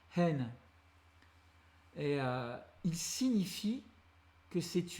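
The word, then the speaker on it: ἕν: et un V, mais qui se prononce en phonétique hen.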